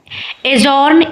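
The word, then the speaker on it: adjourn: एजॉर्न। इसमें भी D silent है।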